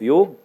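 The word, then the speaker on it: योग: understood the value of yog but we have less understood this so in my opinion yoke should be I do not pronounce it is Yoga it is the real word yog the yog is should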